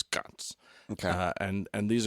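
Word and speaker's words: ghats: uh or CS they it's spelled GH a t but they they can make a c sound so it's GS okay uh and and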